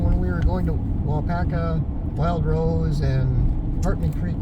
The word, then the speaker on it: Weyauwega: How do you pronounce this town? Weyauwega. How? Weyauwega. Weyauwega.